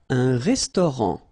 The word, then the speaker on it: restaurant: Un restaurant. Final T not pronounced.